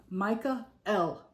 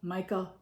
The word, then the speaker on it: Michael: As for how he pronounces his name, Micah L. Micah, M-I-C-H-A dash capital E, lowercase l. Michael. Michael. L is short for Elohim, which is a word for God.